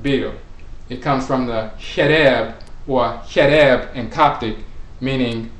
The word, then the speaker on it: Kherer: So Kherer or Kherer, when you look at the KH, the medut for the KH, it can be pronounced K with the K sound, it can be pronounced with the Ch sound, it can be pronounced with the Sh sound. It's very similar to the CH letter combination in English because that's where it comes from.